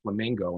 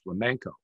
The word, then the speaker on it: flamenco: word uh and and saying it wrong like dance the flamingo instead of dance the flamenco so what happens a